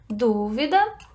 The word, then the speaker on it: dúvida: Qual é a sílaba tônica da primeira palavra? Dúvida, a antepenúltima.